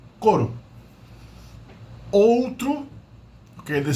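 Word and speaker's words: couro: and e i or in colloquial speech pronounced like individual simple vowels so o is pronounced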